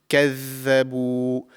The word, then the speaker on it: كَذَّبُوا: So the correct pronunciation is كَذَّبُوا. The tip of the tongue slightly comes out of the mouth, just like the tha, but there is more vibration in this pronunciation.